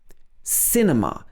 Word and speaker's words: cinema: going to the cinema cinema so we stress the first part of the word cinema but in the us